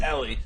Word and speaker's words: Ellie: out with the pic that is how it's pronounced by the way it's Ellie I was also saying Eli early on then production told us it's Ellie like smelly so smelly Ellie by